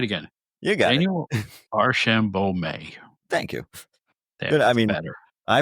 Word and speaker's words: Archambeault: Daniel Arshambo. Thank you. I mean, I pronounce it one way.